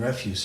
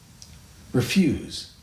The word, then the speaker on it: refuse: So, refuse and refuse are spelled the same, but they're pronounced differently. Why is that? So it goes like this. S's. Refuse, verb. Refuse, noun.